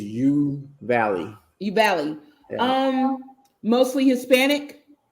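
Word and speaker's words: Uvalde: the population of do you pronounce it obele it is you valley you valley um mostly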